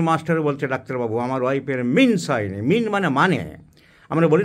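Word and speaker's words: menses: অনেক শিক্ষিত মানুষও স্কুলের ইংরেজির মাস্টার বলছে, ডাক্তারবাবু আমার ওয়াইফের মিন্স হয়নি। মিন মানে আমরা বলি না, হোয়াট ডু ইউ মিন, তুমি কি বলতে চাইছো? সে উচ্চারণ মিন্স নয়, মেন্স, মেনস্ট্রুয়েশন।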